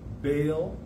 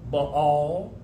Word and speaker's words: Baal: now this this god bail there's a lot of pronunciations for it uh you may know it as baal uh or by all or even in the